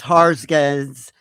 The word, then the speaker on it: Hargens: It's Harggins. I think it's Swedish, right?